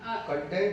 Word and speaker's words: content: नहीं कंटेंट अलग है, कंटेंट अलग है. स्पेलिंग और यही तो कंटेंट लोग बहुत बार मिसप्रोनाउंस करते हैं. आपका कंटेंट इज द कंटेंट list, जितने चैप्टर्स हैं, है ना, एंड कंटेंट इज योर संतोष. ठीक है, तो ठीक है, कंटेंट्स इज the list given in the book, or content is your contentment.